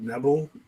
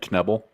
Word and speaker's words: Knebel: i've always pronounced it neville but everyone told me that isn't it knebel like you actually pronounce the k is it nibble i